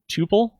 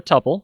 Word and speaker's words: tuple: All right, our next term is tuple or tuple. You can pronounce it either way, or item.